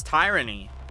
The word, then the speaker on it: tyranny: That's not how you pronounce that word. It's tyranny. Because tyrant.